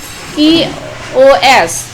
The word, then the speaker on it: chaos: Chess, complete disorder or confusion, pronounced chaos.